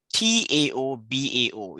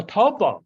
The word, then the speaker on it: Taobao: and you mentioned a contract platform called the TAOBAO. Is it, how do you pronounce that? What's TL? Yes, tell us about that system. Oh, Taobao. Yeah, Taobao, yes.